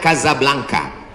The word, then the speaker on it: Casablanca: Ibu kotanya tulisannya Casablanca. Cara bacanya Kazablanka.